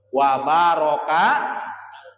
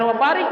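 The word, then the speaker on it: وبارك: ala alihi wa sahbihi, terus wa baraka wa salam. Jangan wa barik nih. Ini kadang-kadang ada yang membaca wa barik ya. Nah, ini salah. Umpamanya bacanya seperti ini. Wa sallallahu ala sayyidina Muhammad wa ala alihi wa sahbihi wa barik wa salam. Salah. Ya, kalau ada yang membaca wa barik, nah itu salah baca.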